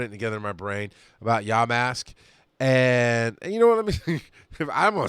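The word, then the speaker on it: Yamask: I've been looking at I am saying it right yah mask its yah mask is how it says in the book raid exclusive costume Pokemon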